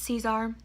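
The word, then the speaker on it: Czar: Just to end on a high note, this is my baby Caesar, and it's spelled C-Z-A-R. So technically it's like Russian Tsar, but it's Caesar.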